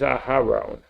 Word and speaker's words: Aharon: Aaron is Aharon.